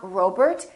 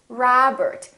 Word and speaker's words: Robert: you don't say oh it's not robert it's robert it's not mcdonald it's mcdonald